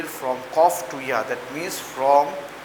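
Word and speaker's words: ق: My dear students, you know that this is Qaf. This is Qaf. Now I am giving double J under the Qaf. This is Qaf, not Kaf.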